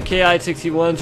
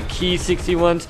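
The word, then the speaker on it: Ki-61: I do know that the Ki 61s are actually pronounced the key 61s I don't know why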